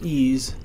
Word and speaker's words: EES: EES which is pronounced ease is an acronym for